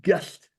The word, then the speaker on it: Gull: So when their main beer is called Gull, Gull, but it's pronounced Gullt.